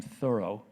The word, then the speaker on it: Thoreau: also transcendentalists like emerson thoreau who pronounced his name thorough and w h shannon